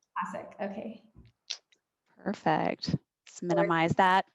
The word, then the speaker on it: Kosec: I hope I'm pronouncing your name properly. Yeah, Kosek. Kosek, okay.